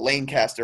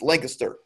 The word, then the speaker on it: Lancaster: And then there's Lancaster, which people like to call because the E's and they're silent, and they like to call it Lancaster, and it drives me insane. It's Lancaster, not Lancaster.